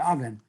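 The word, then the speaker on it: אבן: There's no difference between Evan and Oven. The only reason sometimes that word Evan is pronounced Oven is purely because of its placement, its syntax placement within the pasuk.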